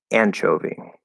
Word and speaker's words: anchovy: Okay, so David asks, which syllable do you stress in anchovy? Would be the first one.